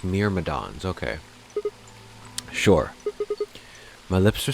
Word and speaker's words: Myrmidons: Okay, it's pronounced Myrmidons.